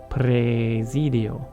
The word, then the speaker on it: praesidio: And the other big difference is the AE in praesidio. An AE in the Italian becomes an E. It's basically like a long E. Presidio.